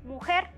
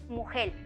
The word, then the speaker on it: mujer: Por ejemplo, se puede decir mujer, pero también mujel, como se pronuncia en algunas regiones de América Central.